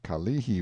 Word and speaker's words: Kalihi: a picture as the kalihi valley pronounced stress on the second syllable all citizens talk about